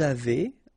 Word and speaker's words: avez: two, nous avons, vous avez, a Z at the end will produce this E sound, avez, little link between the